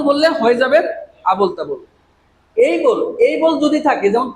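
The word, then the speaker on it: able: যদি এটাকে আমরা যদি বলি এবল, তাহলে হয়ে যাবেন আবল তাবল। এটা কখনো আমরা এবল বলবো না। কি বলবো? এই বল।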